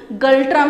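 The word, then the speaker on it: ngultrum: इसकी करेंसी भी भूटानीज गल्ट्रम है। यहाँ पर एन साइलेंट है, इसलिए मैंने यहाँ पर स्पेसिफाई किया है भूटानीज गल्ट्रम।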